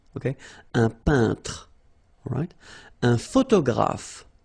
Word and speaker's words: photographe: Un photographe. So here, PH, and here, PH, pronounce it like F, F, F, F. Photographe.